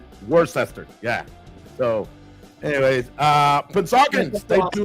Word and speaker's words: Worcester: I lived out of western Massachusetts and I started learning how to pronounce it towards the end of my time being there. I used to go to work. So worester.